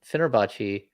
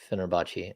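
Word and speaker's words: Fenerbahçe: kid yeah but like people are saying phenerbachi no that's not how you pronounce fenerbachi okay well that's how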